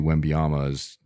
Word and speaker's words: Wembanyama: like, all right, obviously Wembanyama that's how you say his name, right? Yeah, I don't even know. Wembanyama? Wembanyama. Yeah.